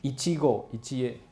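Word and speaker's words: 一期一会: 会念哈，一期一会念成一季果一季叶啊，不是草莓哦啊，一季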